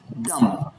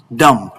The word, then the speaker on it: dumb: But I need to tell you that the B here is silent in the word. It is pronounced dumb and not dumb. It is pronounced dumb.